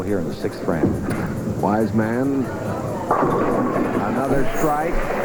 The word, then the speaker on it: Wiseman: Wise man another strike. I keep making that mistake with the pronunciation of his name. It's wise man. That's the way he likes Wisman.